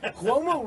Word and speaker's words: Cuomo: And where Cuomo is the governor. The singer. I love his music. Beautiful. Cuomo rhymes with Como.